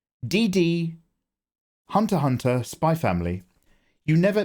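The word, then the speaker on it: Spy x Family: X DD Hunter Hunter spy family you never the x is silent the x is silent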